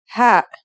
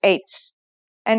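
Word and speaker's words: ه: letters are ta and ha are you ready to write them then let's go let's start with our first letter this letter sounds just like the english h and it should be very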